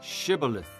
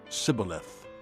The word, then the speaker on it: shibboleth: he replied no they said all right say shibboleth if he said sybileth because he could not pronounce the word correctly they seized him and